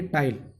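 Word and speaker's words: taille: करेंगे तो क्या लिखेंगे, टाइल, टाइल। क्या लिखेंगे स्टूडेंट्स, टाइल। इसका प्रोनाउंसिएशन अगर हम करेंगे तो टाइल, टाइल।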